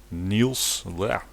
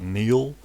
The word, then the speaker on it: Niels: Niels, it's strange when you pronounce it. So it's not Neil. So, and it's also not Niels from Holgersson. It's just Niels.